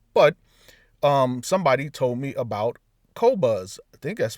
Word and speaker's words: Qobuz: But somebody told me about Qobuz. I think that's how it's pronounced, Qobuz.